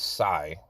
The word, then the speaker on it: Tsai: Kyrie Irving got criticized by the owner of the Brooklyn Nets, the Asian gentleman, Joe, I believe it's Tsai, because I think the T is silent.